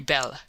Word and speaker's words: belle: that they are very belle. Now don't mispronounce things and get sore till you know. You pronounce that like bell and push button.